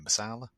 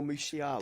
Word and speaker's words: Musiala: There's rumours of that Jamal, I can't pronounce his surname, Masala. Oh, Musiala, That's is it, it?